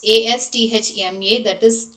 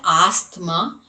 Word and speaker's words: asthma: And a s a s t h m a, not asthma, it is asthma. T and H has to be silent, just like we have psychology.